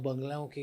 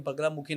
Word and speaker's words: बगलामुखी: जैसे ओम हीम बगलामुखी नमः, ऐसा है मंत्र, ठीक है। अब लोग बहुत गलत बगल मुखी ऐसे करके बोलते हैं लोग, ठीक है, और